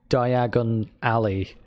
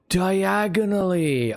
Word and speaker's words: Diagon Alley: Like, because I saw the movies first, and they were always talking about Diagon Alley and pronouncing it like that. So I was like, oh, Diagon Alley. And then when I read it, I was like, diagonally.